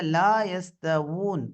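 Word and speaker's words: لا يستوون: அதே போல இங்க லா யஸ்தவூன் வாவ் வரணும். இங்க என்ன வரக்கூடாது? ஹம்சா வந்துடக்கூடாது. லா யஸ்தவூ வாவ் வரணும். உதட்டில இருந்து உச்சரிப்பு வரணும். தொண்டையிலிருந்து ஹம்சாவுடைய உச்சரிப்பு வரக்கூடாது. அடுத்து லா யஸ், சீனுடைய உச்சரிப்புல அந்த காற்றின் ஓட்டம் அங்க காணப்படணும். லா யஸ்தவூன், லா யஸ்தவூன். சரிங்களா? லா யஸ்தவூன். உதட்ட வாவ் உச்சரிக்கும் போது உதடு குவிந்த நிலையில காணப்படும்.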